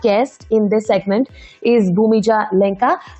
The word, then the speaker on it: Bhumija: in this segment is bhumija lenka am i pronouncing your name right bhumija yeah yeah correctly oh superb so mija